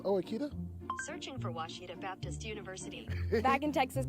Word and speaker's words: Ouachita: uh I've heard people say OA oh a Oita is it pronounced Oita searching for wasita Baptist University back in Texas everybody pronounces it